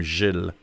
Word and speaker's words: Gilles: But keep it to my first name, Gilles. It's like Jill, but it's a soft G. Gilles.